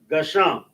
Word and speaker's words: Gasham: We got the Ga, Sha, and the Ma. Three letters, two syllables for the pronunciation.